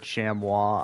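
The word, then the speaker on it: chamois: I've heard Shamwa. I've heard Shamoy, which I mean that's how you spell it.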